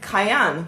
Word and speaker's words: Cayenne: kind of comes weird it rhymes with Diane okay cayenne Cayenne Cayenne Cayenne Kia Diane no Cayenne okay yes I am